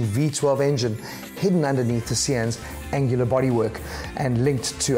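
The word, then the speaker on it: Sián: then the new Lamborghini C n is for you now yes apparently that is the correct way to say it C n the engineers from sulamita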